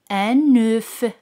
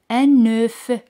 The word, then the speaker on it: œuf: La letra F es muda, no se pronuncia, pero al decir un huevo se dice un œuf. Aquí la letra F se pronuncia, un œuf.